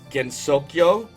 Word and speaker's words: Gensokyo: We are in Gensokyo, which I believe rhymes with Tokyo.